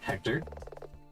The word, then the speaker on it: Hector: Hector. Your name rhymes with director.